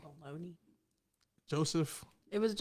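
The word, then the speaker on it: Bologne: Baloney. Joseph. It was. It sounds like baloney, like the. What do you want? Phonetic term, I guess, of it, like Bologna or something.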